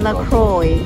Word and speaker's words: LaCroix: know what is it lacroix they said it's supposed to rhyme with enjoy and there's amber and